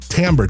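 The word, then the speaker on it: Timbre: Tamber t i m r e. And yes, that's how you say it. And they're not going to call you out for saying timber, but t i mb r e.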